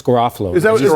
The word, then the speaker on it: Garofalo: It's Garofalo.